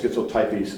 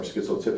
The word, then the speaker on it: schizotypy: So, people pronounce it both schizotypy or schizotypy is a trait that is related to schizophrenia.